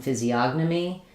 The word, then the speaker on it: physiognomy: In physiognomy, it changes because that syllable is stressed.